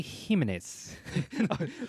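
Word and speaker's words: Jiménez: drawn by Jorge Jimenez or Jorge Jimenez who pronounces it Jorge humanists that's right I use the H sound for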